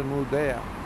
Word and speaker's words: Nordea: Acá nos encontramos con un banco, una Nordea, se escribe así Nordea y se pronuncia Nordea.